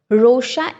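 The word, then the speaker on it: Rorschach: इसका जो प्रोनाउंसिएशन होता है वो रोशचैच नहीं होके रोशा होता है.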